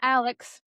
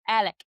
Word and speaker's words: Alec: And it's not Alex, it's Alec.